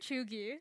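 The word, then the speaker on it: cheugy: that's all be what is it I'm sorry chugi chugi can you spell it for me um yes it's ch h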